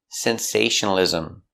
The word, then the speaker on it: sensationalism: That's right, there's an extra syllable there. Ism. Not ism. Ism. Sensationalism. Sensationalism.